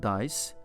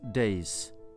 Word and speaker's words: dais: And by the way, you should not pronounce the word dice, that is days.